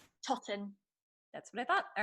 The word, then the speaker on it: Totten: Totten.